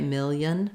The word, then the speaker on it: million: it this way a million million can be helpful not much vowel in that second syllable keep that really reduced a million a million